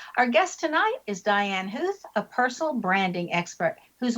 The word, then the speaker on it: Huth: And the last name, even though it's pronounced, like you're hearing some O's in there, there aren't any. It's just huh.